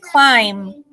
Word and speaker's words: climb: pencil right and climb so the be in climb is it silent or not silent silent it is silent you can't hear the be so it's climb what do you recognize